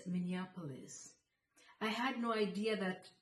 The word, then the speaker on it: Minneapolis: Published in Minneapolis. I had never heard that name before. That evening, I asked my sister, "Where is Minneapolis?" She corrected me. She said, "It's not Minneapolis, it's Minneapolis."